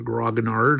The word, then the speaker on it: grognard: I'm an old grognard, or grognard, as your typical American pronounces it.